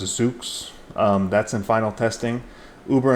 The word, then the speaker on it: Zoox: You've got Amazon with their project, I think it's pronounced Zoox.